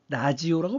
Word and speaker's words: 라디오: 여러분들은 라디오, 원래 영어 발음은 레이디오인데 한국어로 표기할 때는 라디오라고 쓰죠. 하지만 옛날 할머니, 할아버지들은 이 라디오라는 발음을 못했어요. 그래서 어떻게 발음했냐? 라지오라고 발음했습니다. 라지오.